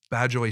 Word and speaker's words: Badguy: Let's see if you can beat Badjoy Snake Talker's difficulty. Also, for those curious, this guy's first name is spelled Badguy.